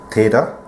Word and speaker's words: theta: o with the line at the top it's pronounced theta it's the Greek alphabet it's the letter used